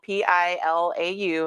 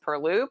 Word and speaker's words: pilau: saw my facebook post it's not going to sound like it's spelled it's spelled p-i-l-a-u and i have heard it pronounced purlou per low pilau and essentially it